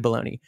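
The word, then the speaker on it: Belloni: realized yeah it's Matthew baloney I realized it sounds like baloney like the meat but it's like b-e-l-l-o-n-i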